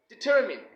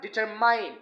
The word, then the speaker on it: determined: but not the least it should be determined not determined okay there's nothing mine